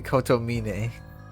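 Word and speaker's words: Kotomine: archers and priests especially koto meanie that's how you say it the end of the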